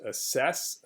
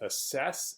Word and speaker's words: assess: the word is pronounced assess assess and the stress is on the second syllable s assess assess in